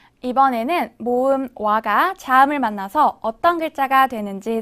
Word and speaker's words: 와: 와. 와는 먼저 오를 소리낸 후에 바로 이어서 아를 소리내며 발음합니다. 오와 아를 순서대로 빠르게 말해요.